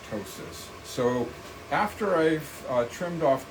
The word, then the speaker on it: ptosis: reverse that brow ptosis with the p ketosis but it's pronounced ptosis so after I've trimmed